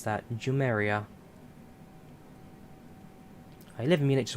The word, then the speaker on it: Jumeirah: How do you pronounce that? Jumeirah.